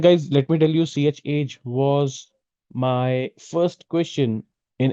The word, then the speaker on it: chage: The first question was, what is chage? In fact, the interviewer said, what is change? So the correct pronunciation is ch, means change, and age is the aging properties. Okay, so ch age.